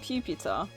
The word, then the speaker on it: Pupitar: Pupitar?